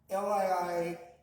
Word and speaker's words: Leelanau: And that's pronounced Liilunow Stonefish.